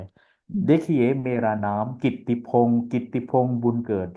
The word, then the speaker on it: Kittipong: लेकिन कित्ती पाली में कित्ती हो गया, बन गया, मतलब बदल गया थोड़ा।